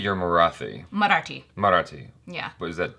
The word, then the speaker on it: Marathi: Now, you said you're Marathi. Marathi. Yeah. But is that different? No, Marathi is the same as the R sound with your tongues that you're gonna, it's Marathi, and your tongue flicks out.